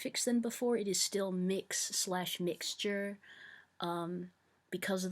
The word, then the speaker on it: Mx: a lot of non-binary people will use mix but it's spelled MX and that's what I